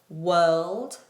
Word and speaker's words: world: We have world we have work. Sorry. World also has a dark L.